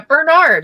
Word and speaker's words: Bernard: Yeah, Bernard, like Saint Bernard dog.